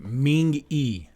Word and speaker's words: Mingi: The group has 8 members: Hongjoong, Seonghwa, Yoonho, Yeosang, Son, Mingi, Wooyoung, and Okay, Ming-E. Ming-E. That's how you pronounce it.